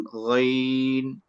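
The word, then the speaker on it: غ: আমরা অনেকে বলি আইন গাইন, এটা সঠিক উচ্চারণ না। সঠিক উচ্চারণ হচ্ছে গাইন। এরপরে দেখেন খ, এখানে একটা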